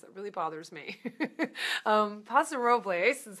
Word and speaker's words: Paso Robles: includes paso robles or Possible's they say it's not possible that's just not that's not the way the Spanish would be pronounced it really bothers me um pasa Robles is how i would